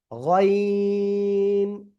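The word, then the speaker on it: غين: গইন। 3 আলিফ টেনে উচ্চারণ করতে হবে, গলার শেষ ভাগ থেকে এই অক্ষরটা উচ্চারিত হয়, গইন। ওকে, এরপরে দেখেন শব্দের শুরুতে যদি এই গইন অক্ষর আসে তো কেমন আসবে?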